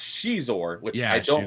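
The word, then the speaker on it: Xizor: for decades that the antagonist of that was caor and I found out just recently it's actually pronounced Shor which I don't like that PR pronunciation I like cizor better but it is Shor but he was he was uh cool in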